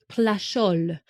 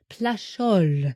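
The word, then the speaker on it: Plageoles: but there is a winery called domain plus plol plol I actually looked up the pronunciation for that so I actually believe that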